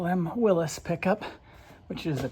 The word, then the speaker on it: Willys: Today we're working underneath my 1962 Willies pickup or as some call them Willis pickup which is the correct pronunciation but in these parts they call it Willies typically.